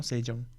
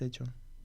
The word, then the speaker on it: Sejong: university for a year' We pronounced the name so badly - We said 'Sechong' - No, we said 'Seyong' - It's Seyong - No, it's Sejong I don't know, we